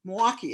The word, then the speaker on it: Milwaukee: Milwaukee is how it's said, like two syllables, Milwaukee, Wisconsin, to act as the UU the Vote Wisconsin lead organizer.